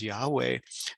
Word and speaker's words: Yahweh: He's even invoking the name, sacred name of God, of the Yud-He-Vav-He, commonly pronounced as Yahweh, that he should not be killed.